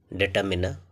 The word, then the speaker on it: determiner: तो इसका जो प्रोनाउंसिएशन है वो है डिटरमिनर, जिसमें आर साइलेंट दिखाया गया है और ये इसका